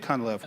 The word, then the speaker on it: Cunliffe: Jake, am I pronouncing the last name correctly? Yes. All right, Jake Cunliffe.